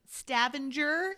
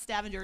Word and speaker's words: Stavanger: know the pronunciation of Stavanger, it's not Stavanger, it's Stavanger. Stavanger.